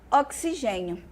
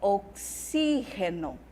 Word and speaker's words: oxígeno: sílabas tônicas no português eu tenho oxigênio no espanhol eu vou ter oxígeno Tá bom eu vou ter aí oxígeno aqui fica fácil porque a sílaba já está acentuada então maravilha né No Português eu tenho a no espanhol Onde eu teno acadêmia acadêmia elite em português e élite em espanhol mais uma acentuada já